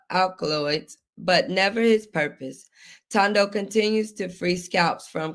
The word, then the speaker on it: Thando: So, let's get the name right, you know, because sometimes people just continue to pronounce names. So, you said it's Tando, correct? Tando. Tando.